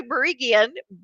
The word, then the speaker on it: Barigian: So with no further ado, I want to bring, and I'm going to say her name wrong, but she loves me anyway, Barigian, onto the show.